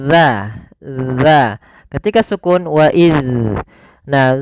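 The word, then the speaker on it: ذ: Huruf zal itu makhrajnya kita ulangi ujung lidah kita. Ujung lidah itu bertemu dengan apa? Gigi seri atas. Gigi seri atas. Maka bagaimana pelafalannya? Dza.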